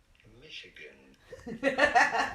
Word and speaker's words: Michigan: Michigan. To stress on the first syllable.